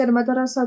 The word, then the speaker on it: المدرسة: Alors, juste ici, on dit al-madrasa tout parce que le tamarbuta, quand il est au milieu d'une phrase, on le prononce. C'est que quand il est à la fin qu'on le prononce pas.